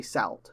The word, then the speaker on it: Salford: save why is groove i know how it's spelt but it's not spelt as it said it's like salt you don't say salt you say salt just a weird little english